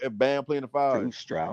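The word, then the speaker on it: Strus: yeah, Struz, Yeah, I So like that. now who gonna play the four if Bam playing the five? Struz Not Strauss.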